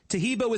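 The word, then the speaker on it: Taheebo: Tahibo is spelled T like Tom, A-H-E-E-B like boy.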